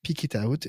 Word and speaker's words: Pick It Out: s'appelait pick it out ça se prononce tout tout attaché pick it out et donc c'est lui